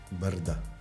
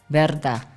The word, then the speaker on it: Brda: called p r d a how do you pronounce that Verda Verda Verda Verda yes but that's how you see